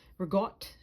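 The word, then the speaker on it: ricotta: But she knew the proper way to pronounce regott and mozzarell.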